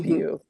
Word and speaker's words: Bew: Uh, Kieran Bew is how you say Bill. it. It's Hmm. Bew.